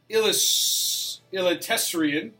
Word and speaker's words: Eliteserien: You were struggling this morning with that pronunciation. Sweden, Allsvenskan, Norway, Eliteserien, and Denmark.